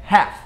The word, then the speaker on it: half: Metade não é half ou health, nem nada disso. É half. Half. Não tem esse L, porque senão ficaria half. Ficaria um negócio muito esquisito também.